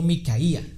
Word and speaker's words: Micaía: Dice que había un hombre llamado Micaía porque tiene la el acento en la I.